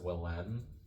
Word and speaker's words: Willem: It's pronounced Willem.